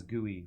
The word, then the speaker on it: GUI: a wow enjoyer from day one some people pronounce GUI as gooey which you have mixed feelings about okay um